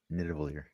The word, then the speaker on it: Nidavellir: Nidavellir. It's the. All right. It's the. So do I play Wave here on the left or the middle? I generally like low cards You gonna, on Nidavellir because I don't like to hit yeah.